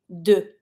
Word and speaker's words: deux: Careful with the pronunciation here. Deux, you never pronounce the X. So you're just going to be saying deux.